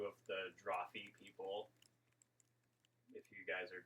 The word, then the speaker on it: Drawfee: yeah, there's a lot of Drawfee stuff on Dropout because College Humor used to own it. Yeah. And that's How do you spell it? Drawfee? Draw, F-E-E. It's like coffee and draw put together.